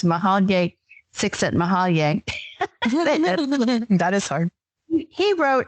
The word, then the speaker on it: Csikszentmihalyi: It's Mahalye Csikszentmihalyi.